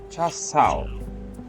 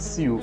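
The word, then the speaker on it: char siu: Cha Sao. Cha Sao. Okay, it's not Siu, it's Sao.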